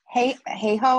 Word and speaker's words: Hayhoe: Catherine Hayho. Hey ho, as in like, yeah.